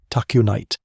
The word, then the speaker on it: Taconite: Taconite, Tack-you-nite.